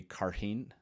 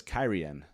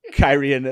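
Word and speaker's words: Cairhien: I always just said it um I always pronounce the city carhene and I didn't realize it was kyrian and I was like uh but I probably did realize it but it was kyrian at some point but then I was like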